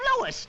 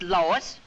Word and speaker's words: Louis: the plant Lois Lois me name is Lois not Lois J whiz everybody in